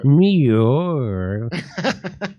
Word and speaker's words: Muir: It sounds like a kitty doing a kitty purring. I'm David Muir. Muir.